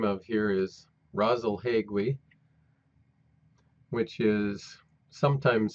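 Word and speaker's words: Rasalhague: that we learn the name of here is rosle hegu which is sometimes spelled as two words either way it's pronounced brazal hegui the name of this star means the head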